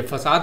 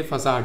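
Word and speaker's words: façade: ये फसाद नहीं है। दंगा फसाद वाला नहीं है। ये फसाड है।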